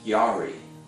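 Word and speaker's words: ירא: Another word that's used in the Old Testament in Hebrew is pronounced yari, which is to stand in awe and reverence and respect of God.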